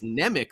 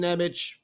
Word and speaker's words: Nemec: i thought it was nemic for a while but then we heard you know i thought it was anemic i don't know you know johnson johnson same thing sometimes these pronunciations change scotty forgets you know enough